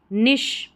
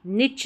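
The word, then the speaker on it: niche: अलग से यहाँ पर देखिए निश, निच नहीं होता, निश। अब कै वाली यानी सी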